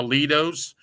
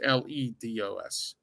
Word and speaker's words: Lido's: I want to throw a shout out to Lido's. Not a bad place. It's like the Lido Shuffle, from Boss Gags, but it's pronounced not Lidos. It's pronounced Ledos.